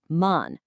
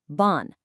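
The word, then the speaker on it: 万: Now, look at the Japanese on'yomi reading. It's pronounced exactly as man, or sometimes with a really slight variation as ban.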